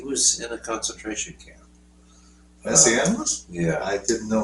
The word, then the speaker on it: Messiaen: Messiaen was?